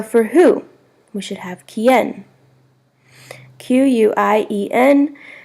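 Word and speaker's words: quién: accent on the O with whom is con quien see o in space qu ie n accent on the e to where AB donde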